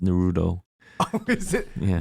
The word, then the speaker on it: Naruto: I think it's properly pronounced Naruto. Oh, is it? Yeah. Naruto.